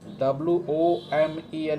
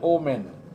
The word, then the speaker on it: women: WOMEN is women. But mostly people pronounce oman and omen. That is incorrect. WOMN is woman and WOMEN is women.